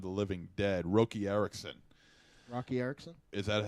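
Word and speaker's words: Roky: uh Return of the Living Dead rookie Erickson Rocky Erickson is that how you pronounce It Rocky yeah okay Rocky Erickson yeah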